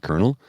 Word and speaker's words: colonel: And I go, why'd you put an R in colonel? Because it's spelled C-O-L-E-N-O-L, colonel. That's how it's spelled, but they pronounce it colonel.